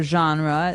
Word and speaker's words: genre: genre genre or genre this kind of sounds French is it French I think it comes from French uh it's a g word so genre it's a soft soft